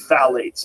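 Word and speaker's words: phthalates: the introduction of phalates it starts with a p p t h a l a t s I think it's how you spell it you say phalates and phalates are a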